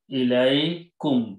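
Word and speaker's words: إِلَيْكُمْ: Then their next word they are using is Ilaikum.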